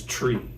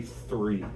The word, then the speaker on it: three: So when she pronounces three, she says tree. She can't say three. She can't do the stick your tongue out and make that sound.